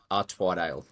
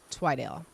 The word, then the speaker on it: Twidale: Twidale. Twidale.